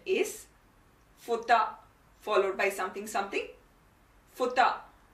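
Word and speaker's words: 二: now the kunyami that is the native japanese pronunciation is futa followed by something something futa the onomi is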